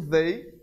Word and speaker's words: they: Por último, nós temos o they, certo? Lembrando de sempre colocar a língua aqui atrás do dente, certo? Para pronunciar o TH em inglês.